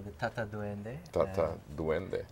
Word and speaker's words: Tata Duende: This one they call the Tata Duende. Tata Duende. And some people pronounce it Tata Duende or just the Duende.